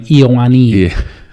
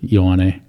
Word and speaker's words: Ioane: Well, they would pronounce my name Iowani. Yeah. Like or something like that. Iowani. And how do you pronounce it? Ioane. Yeah. Or because it's EO, like just the IO is.